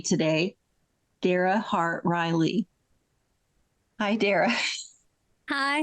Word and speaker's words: Dara: it is so unusual it's like Sarah only with a d so it's Dara well I had it